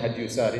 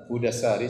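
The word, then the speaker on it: Hudā as-Sārī: Saya nukilkan dari kitab Hudassari, sebagian orang bacanya Hadyusari, tetapi yang benar Hudassari sebagaimana ditashkil, diberi harokat langsung oleh Ibnu Hajar rahimahullah, penulis buku.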